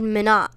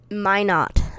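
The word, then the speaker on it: Minot: okay in north dakota you said mina min ot it is pronounced my not okay thank you i'm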